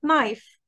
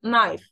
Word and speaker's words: knife: هنا طبعا knee يعني ركبة زي كلمة knife سكينة for example knife knife.